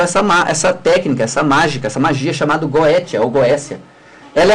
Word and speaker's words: Goétia: risca aquela Goétia, ou Goécia, depende da pronúncia. Uns falam Goécia, outros falam Goétia, mas se escreve G-O-E-T-I-A, com T, né? Uns pronunciam Goécia devido vindo do grego, tá?